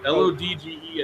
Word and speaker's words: Lodge: how about John Lodge l-o-d-g-e as in like Mario says maybe it's pronounced Great Britain wait so what's this guy John Lodge as in a hotel you stay in Lodge Lodge yeah bass guitar slash